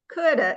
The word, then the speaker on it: coulda: in songs and you Coulda exactly so let's say that together Coulda Coulda Coulda Coulda yeah you got it um that rhymes with